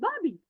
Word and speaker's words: Barbie: Oh, because in India we'll say it Barbie, Barbie. That is not Barbie, Barbie, Barbie. Okay, R is silent, Barbie.